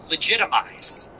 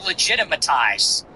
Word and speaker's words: legitimize: She's saying legitimatize.